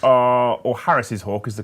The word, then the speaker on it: Harris's hawk: though like Batman you know like FAL man Harris Hawks are or Harris's hawk is the correct pronunciation is one of the only Birds to